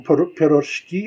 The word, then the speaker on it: piroshki: beer make some make some piroshki I believe is the Russian pronunciation Ferro geese for those